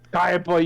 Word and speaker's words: Kaiba: It's Kaiba, you fool. Kiba. Sorry. That hurt my soul. Kiba. I'm still tired. It's an I.